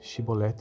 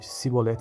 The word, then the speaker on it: chibolete: respondesse que não diziam Então diga chibolete se ele dissesse a sibolete sem conseguir pronunciar corretamente a palavra prendi o no matavam